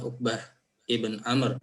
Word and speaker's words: Uqbah ibn Amr: Masuk di matan hadisnya an Abi Mas'ud Uqbata bin Amrin al-Ansari, atau bacanya Uqbah ibn Amr al-Ansari al-Badri.